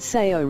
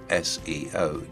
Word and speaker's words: SEO: your inbox, promising instant SEO results. Now, as you can see in this case, most people would pronounce this word SEO, not SEO.